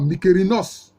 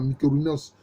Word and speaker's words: Mykérinos: Il y a la pyramide du pharaon que les gens appellent improprement Mykérinos, ce qui fait, c'est un mot grec ça, Mykérinos, sinon son nom c'est Mekaouré.